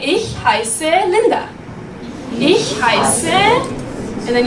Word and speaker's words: heiße: All right, now we have this S letter. As you can see, we learned about that. So it's pronounced S, right?